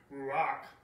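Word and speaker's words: רוּחַ: Again, I don't know if I'm pronouncing this correctly, but it's ruach.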